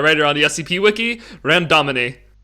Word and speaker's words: Randomini: So how do you actually pronounce it? Randomini. Randomini.